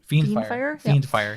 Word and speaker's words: Fiendfire: Fiendfire, yep.